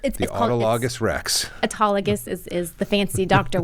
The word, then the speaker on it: autologous: body but you can call it autologus that works too and it's autologus that's how we typically say it autus but sometimes we